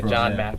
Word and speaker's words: JON MCXRO: so John Mack R I heard it's pronounced like the tennis the tennis pro but it's yeah John Mack and so three uh